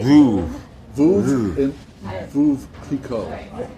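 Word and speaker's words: Veuve: how you say Vouv.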